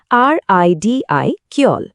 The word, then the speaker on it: ridicule: উচ্চারণটা হবে RIDI কিয়ল।